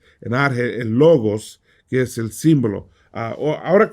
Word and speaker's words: logos: ahora te digo esto yo estoy pronunciando logos como como la producción haremos en español por qué porque así me enseñó mi profesor muchos les enseñan a decir la gas a mí no me gusta eso no creo que esta producción correcta pero la realidad nadie